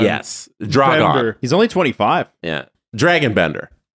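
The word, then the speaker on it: Dragan Bender: They spell it Dragan. It's like Dragon. Yes. Dragon. Bender.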